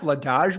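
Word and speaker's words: Vladař: It's pronounced Vladaj, by the way.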